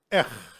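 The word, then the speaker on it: אח: Then we have Aleph and Het that is pronounced Ech.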